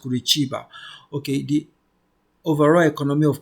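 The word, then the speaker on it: Curitiba: the overall economy of kurba okay it's actually pronounced kurba okay the overall economy of kurba is one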